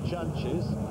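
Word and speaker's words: Jantjes: Now one of the uh things that people may contend is the pronunciation of the word chunches.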